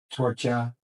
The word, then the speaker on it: Torchia: He goes, "You're so funny with that accent," and so that's where I go my Torchia instead of Torch. Gotcha. Because in Italian, he just pronounced K, Torch.